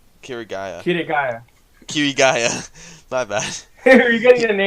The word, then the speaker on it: Kirigaya: of 1,000 testers that were in the closed beta, there was one man, Kirito, or Kazuto Kirigaya. Kirigaya. Kirigaya. My bad. You're getting the name wrong.